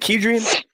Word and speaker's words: Kedrian: Is it Kedrian? Yes, you said it right, man. Most people mess it up, man.